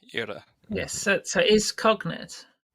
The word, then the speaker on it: iora: So in Irish that would be ira, I-O or a, ira.